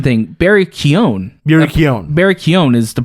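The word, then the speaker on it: Barry Keoghan: speaking also the the pronunciation thing barry keon barry keown is the pronunciation of the name right we've been calling him barry kyogen i'll call him barry bees berry b yeah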